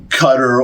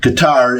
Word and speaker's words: Qatar: kind of uh well the accent is always on the first syllable okay so gar something